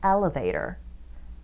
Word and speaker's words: elevator: 자, 엘리베이터 정확한 영어 표현은 elevator. Vader. R 발음이니까 이렇게.